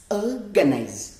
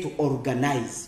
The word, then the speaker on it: organize: Then, the second one is organize. Because tujye kubara n'ubundi. Umugemo wa mbere, one syllable.